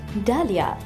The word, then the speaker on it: डालिया: डेलिया इसका गलत उच्चारण है। इसे सही से बोलने के लिए पहले बोले डा और फिर इसमें जोड़ दीजिए लिया। जोड़ते हुए बोलिए डालिया।